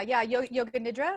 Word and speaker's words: yoga nidra: She's passionate about wellness, self-care, and spiritual development, holding certifications in hypnotherapy and yoga nidra. Is that how you say it, Kim? Yeah, yoga nidra.